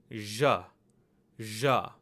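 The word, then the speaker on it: झ़: But this letter is pronounced as ja, ja. This is the same sound that you hear in measure or television, ja.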